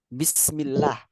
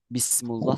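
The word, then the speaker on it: بسم الله: hitungan atau apa gitu bismillah setelah kata bi juga pasti kasrah makanya Bismi bukan bismu bismullah salah bismillah bismillah ahah sama kayak setelah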